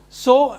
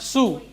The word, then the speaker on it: sew: Pronunciation is sow and sewing. It is not sew or sewing.